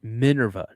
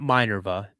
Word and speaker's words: Minerva: Minurva. I'm saying it right. Right. Minurva. Not Minorva. Minurva.